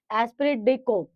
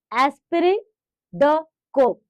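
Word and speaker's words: esprit de corps: इसके बाद है एस्पिरेट डेको। ठीक है? इसमें ध्यान रखना ये टी साइलेंट है और ये पीएस साइलेंट है।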